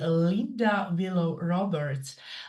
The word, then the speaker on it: Linda Willow Roberts: special guest speaker, far away from Australia, lady Linda Willow Roberts. Linda, I think that I pronounced your name quite good enough.